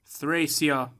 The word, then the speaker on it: Thracia: I understand that this is a big mechanic in Thracia, which is apparently how you're supposed to pronounce it.